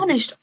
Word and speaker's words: Taoiseach: I can't pronounce proposed Taoiseach? Taoiseach. Sorry. That is correct. Taoiseach.